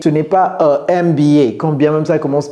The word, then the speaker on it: MBA: Il y a beaucoup de vous qui ont des MBA. Ce n'est pas un MBA. Quand bien même ça commence par un M. C'est un M. Parce que M, ici, c'est comme si c'était EM, n'est-ce pas?